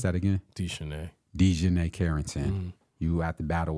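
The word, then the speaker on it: DiJonai Carrington: Then off the bench, you have to battle with De'Asia Carrington. De'Shanae Carrington, yeah. My apologies. Mm-hmm. Can you pronounce that again? De'Shanae Carrington.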